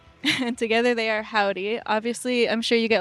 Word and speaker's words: Joudy: Obviously, I'm sure you get lots of confusion because it's spelled J O U D Y. Yeah, it's a whole thing. We're used to it to be called Judy, but I'm always like it's like howdy but with a J like spelled